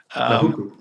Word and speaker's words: Nahuku: Sorry for not pronouncing the native names, but I'm tongue-tied. Nahuku.